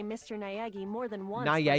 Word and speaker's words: Naegi: Naegi more than once, for Naegi? example. Is that how you say it? No, it's not Eggy. Not Eggy forever.